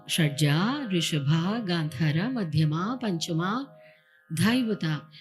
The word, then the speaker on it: Shadja: Shadja, Rishabha, Gandhara, Madhyama, Panchama, Dhaivata, Nishada. And we also say Shadjam, Rishabham, but preferably, I would request leave the akara open there.